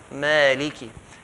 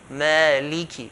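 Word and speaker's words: مالكِ: A lot of people, they say Malik Yawmi. If you say Malik Yawmi, that means you did not give the kaf clear kasra. Maliki.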